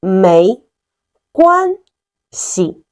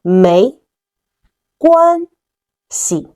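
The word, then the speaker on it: 没关系: It's called 没关系. Follow me. 没关系. 没关系.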